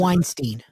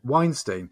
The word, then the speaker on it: Weinstein: the Harvey whites is it whites how'd you pronounce it Weinstein Weinstein the Harvey Weinstein documentary yeah but leaving Neverland